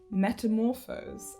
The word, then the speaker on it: metamorphose: An example of some other quadrisyllabic words would be metamorphose and coordinate and lolliable. Metamorphose. The stress is on the 3rd syllable.